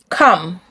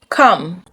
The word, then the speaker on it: come: The O makes the sound uh. Uh. Uh. So, you don't say stomach. You say stomach. Stomach. Money. Money. Comfort. Comfort. Onion. Onion. Monday. Monday. Come. Come.